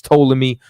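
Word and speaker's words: Ptolemy: know what I'm saying the p is silent but it's totally me over there in in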